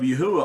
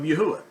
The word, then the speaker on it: Yahuwah: you get yahudah and to get the pronunciation of yahuwah all you do is remove the d and you come out with the pronunciation of yahuwah now to me this